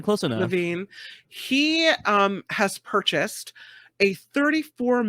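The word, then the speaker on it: Zach LaVine: This is Chicago Bulls All-Star Zach Levine. Did I say it right, Albert? Zach Levine, close enough. Levine.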